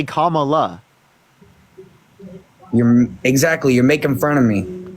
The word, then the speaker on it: Kamala: Can you say comma? comma, and then la. Kamala.